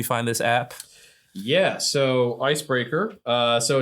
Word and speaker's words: Icebrkr: It's Icebreaker BRKR. So if you find like this spelled the right way, like you're gonna find something different.